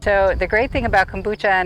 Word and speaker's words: kombucha: lot of people don't quite know how to pronounce it but it's called kombucha it is a fermented tea made from certified